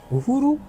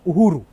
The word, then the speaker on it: Uhuru: Uhuru. No, Uhuru.